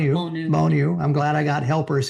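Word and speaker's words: Bonnieux: And uh we set up for two nights in this small little town called um uh B um Bonu. Bonu Bonu.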